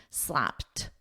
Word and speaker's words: slapped: the new CEO slapped with a soft T slapped slapped so in this case